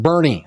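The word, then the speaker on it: Boerne: And it's pronounced Bernie.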